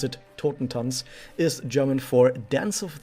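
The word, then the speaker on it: Totentanz: taught in tons and that's the way you pronounce it tottentons is german for dance of the dead i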